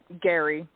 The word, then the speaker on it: Guary: Yeah, it's Guary. Guary. Okay, well, Guary. Yeah, the U is silent. Yep. Right, yeah, because I'm like, I don't know if it's Gary or if it's Guary.